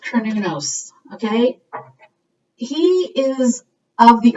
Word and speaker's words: Cernunnos: Some people pronounce it Cernunnos. Where is it? Oh, here he is. But I think it's pronounced Cernunnos, okay?